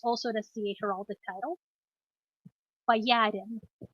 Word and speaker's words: боярин: And the last alternative, which is also an SCA heraldic title, боярин. Боярин.